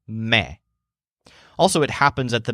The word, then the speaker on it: me: The word me means me. But remember to pronounce it with Joel's voice. It sounds like me.